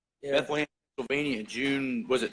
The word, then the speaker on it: Bethlehem: Is that the right pronunciation? Yeah. Bethlehem, Pennsylvania in June, was it 23rd?